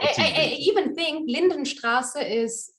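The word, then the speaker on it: Lindenstraße: Lindenstrasse or Unter uns?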